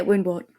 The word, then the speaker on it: Woundwort: And then I'm trying to remember, is there two different Warrens that have Woundwort? Is that how it's said? Yeah, Woundwort.